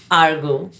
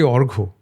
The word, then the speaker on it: Argha: heart, my dear friend, Argo. Yes. Hi, Aarti. I honestly pronounce. We have a issue because the pronunciation of my name is very, very, issue based. Yeah. It's actually Orgo.